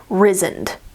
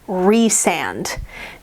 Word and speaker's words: Rhysand: over every time because reading it, I would pronounce this name Rhysand. But I think I looked in the back in the glossary and it's pronounced Rhysand.